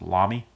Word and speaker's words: Lamy: is hola me i like to call it lani but i believe it's pronounced la me and this is a safari has a nice